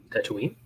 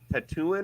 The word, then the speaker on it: Tatooine: which by the way my friend pronounced it tattooing or something like that oh no and then like her kids were saying tattooing and they're like she's like are you sure it's Tatooine and we're like yeah